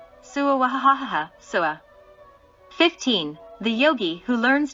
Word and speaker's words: swa: The mantra swa is pronounced as follows. Sua sua.